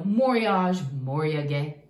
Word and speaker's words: moriage: a heavy you know moriage to pronounce it correctly in japanese to to pile on